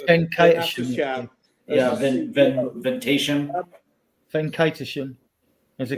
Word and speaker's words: Venkatesham: I can never pronounce it. It's Venkatesham.